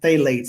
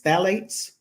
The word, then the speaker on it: phthalates: Now, is that, I was pronouncing it phthalates, it's phthalates?